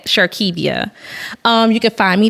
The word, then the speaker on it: Shirdkevia: what's your idea is sharkevia s-h-i-r-d-k-e-b-i-a the D is silent sharkevia um you can find